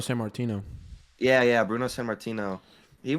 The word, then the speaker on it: Sammartino: Sammartino.